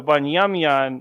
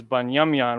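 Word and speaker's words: בנימין: does that make sense so bunyamian is how you write down the name Benjamin the name Benjamin is banyamyan which means son of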